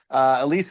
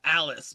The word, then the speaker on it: Alys: Apparently, Elise is probably I think you're pronouncing it right. It's actually spelled Alys. I think that's how they say it though in the film.